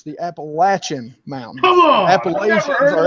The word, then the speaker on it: Appalachian: live here it's the Appalachian Mountain come on appan or everybody everybody that's not from around here calls it the Appalachians come on really if you look at it it is spelled Apple ATA so say it one